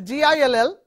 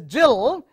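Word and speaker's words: gill: homograft now you see the first word is a G I ll it is called Gil which you find in the description of a fish and if the second word G I ll this is Jill it is a unit for measuring liquids so simply knowing G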